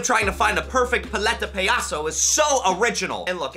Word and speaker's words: Paleta Payaso: My good friend Raul was voice coaching me last night, making sure that I pronounce it correctly. Paleta Payaso. Paleta Payaso.